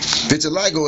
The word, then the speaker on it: vitiligo: patches of skin appear on different parts okay vitiligo is a disorder in which white patches of